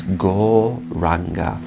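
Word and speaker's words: Gauranga: So we'll use one of those names, that is Go-Ranga. It's divided into 4 syllables, Go-Ra-Anga.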